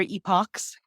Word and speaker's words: Epoch: a little bit of is it epic or Epoch and people pronouncing it both ways and neither way is wrong and we don't get